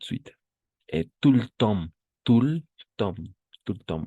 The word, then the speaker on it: tout le temps: Tout le temps. Tout le temps. Ahí, igual, imperceptible la T. Tout le temps. Así. D'accord, tout le temps. Así, si tendría que escribirlo, como, como pronunciar, así sería. Tout le temps.